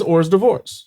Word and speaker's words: hors d'oeuvres: Tell me if you wanted to spell it phonetically. It is or's divorce.